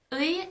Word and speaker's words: 의: 의 is pronounced as 의 when it's the first syllable of a word. It's pronounced as e when it's not the first syllable of a word, or when it's in a syllable that starts with another consonant. It's pronounced as 에 when you're pronouncing 의 as a possessive particle.